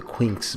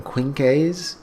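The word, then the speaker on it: Quinx: So I'm going to start saying Quinks, because at first I was saying Quinkes, but I saw it spelled with an X. The manga website that I'm on, Manga Panda, spells it Quinckes. So I'm just going to pronounce it like it's with an X, the Quinks.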